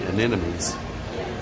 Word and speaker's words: anemones: So if you watch Finding Nemo, you'll see sea anemones.